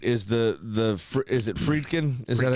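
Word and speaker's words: Friedkin: So, you know what's great is the the is it Fredin?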